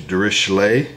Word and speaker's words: Dirichlet: Dirichlet, but it seems like the most common American way to say it is Dirichlet, like a SH, and so...